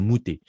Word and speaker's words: Medou: Et le mot tel qu'il est prononcé en copte, ce n'est pas Medou, évidemment, c'est Mouté.